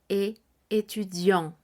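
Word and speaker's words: étudiant: de ser varón masculino el término será e etud en el caso que sea mujer femenino estaremos diciendo e etudiant estaré diciendo la t del final Por qué Porque Estudiante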